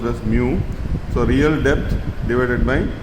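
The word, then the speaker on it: μ: In the letter one it is called pronounced as mu.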